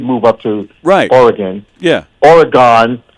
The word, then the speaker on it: Oregon: Listen, right now she still lives in Oregon because she's with some giant law firm there,